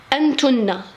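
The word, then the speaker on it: أنتنّ: Mais quand c'est groupe de femmes, on dit antunna, antunna, antunna, antunna, antunna, antunna. On double le nun, on double le n.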